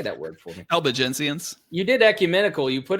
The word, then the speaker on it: Albigensians: Albigensians. You did ecumenical. You put in the script the pronouncer for ecumenical, but not the Albigensians.